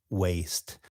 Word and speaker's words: waist: middle of your body, is spelled waist. right, and they're both pronounced waste.